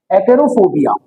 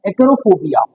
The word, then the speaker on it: acarophobia: तो ऐसा डर अगर किसी व्यक्ति को है तो ऐसे डर को हम कहते हैं एक्रोफोबिया। इसको क्या कहा जाता है? एक्रोफोबिया।